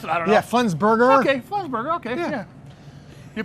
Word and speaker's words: Flensburger: they make the best pilsners and this is flinsberg pilsner i think that's how they pronounce it yeah flensburger okay burger okay yeah you picked an easy